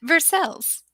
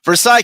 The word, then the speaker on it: Versailles: Versailles. You're so Kentucky. Versailles, Kentucky, 40383. Versailles. It's also in the description of this video. Or when I talk to other people on the phone. You always say Versailles.